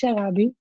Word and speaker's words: Sharabi: to ask before my name so it actually pronounced sharabi is a place in Yemen I'm already my